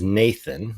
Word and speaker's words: n8n: 8 n 8 n8n or otherwise known as Nathan that's the way it's pronounced does a workflow app that Ross and